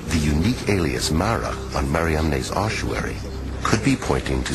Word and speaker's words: Mariamne: the first name in the inscription the unique mariamne never found before or since on any other ossuary in the acts of philip mary magdalene's name is spelled m a r i a m n e mariamne mariamne the same woman as mary of magdala